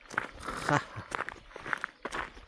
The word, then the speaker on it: Jara: Jara. Je vais la prononcer parce que c'est un J A R A. Et le J, c'est R. Et le R, c'est R.